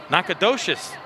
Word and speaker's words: Nacogdoches: And I left out a syllable. Our producer, Scott, all over it. Nacogdoches, Louisiana, Northwestern State.